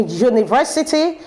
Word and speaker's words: university: upon us as June how did these two letters as pronounced as do when we're talking about a speech wait there are pronounced as you so be careful when